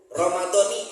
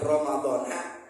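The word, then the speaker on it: رمضانِ: Ingat, Ramadhani hadhihi sanati bacanya. Ya, bukan Ramadhana hadis sanati.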